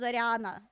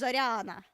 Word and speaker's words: Zorana: Yeah, we No, that's a yah. That's not an ah. That's not an ah. That's different. Zorana. It's a yah. It's zorana.